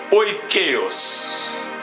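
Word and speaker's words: oikeios: Oikeos.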